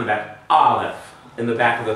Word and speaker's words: Aleph: Aleph.